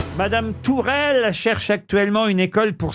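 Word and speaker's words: Tuchel: s'appelle qui s'appelle comme comm comme comme elle tourelle tourelle tourelle bonne réponse de Jean ben bravo et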